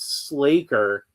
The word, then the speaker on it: Sla'ker: L and the A, I'd say it was slaker. And honestly, I think Slaker seems a little more natural because he's Faker, you know, like uh you know, you'd probably want it to rhyme with Faker.